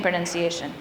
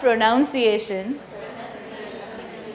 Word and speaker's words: pronunciation: Yes, it's not pronunciation. It's pronunciation, exactly. We pronounce something, a person who pronounces is a pronouncer, but the concept is pronunciation.